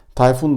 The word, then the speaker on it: Tayfun: Tayfun da rahat bir şekilde kullanılabilir. Bazen ikinci hecesini uzatabiliyorlar ama onu bir şekilde idmanla düzelttirebiliriz.